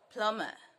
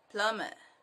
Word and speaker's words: plumber: p-h-l-u-n-b-e-r that is plumbing plumber palmer yes it is not plumb it is not plum bach the m is silent so it's sorry the b is silent so it is plumber plumber plumber do you get it